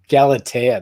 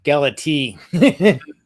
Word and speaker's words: Galatea: the playstation gala galatana galatea that's how you pronounce it yeah i was pronouncing galati galiyan so yeah he plays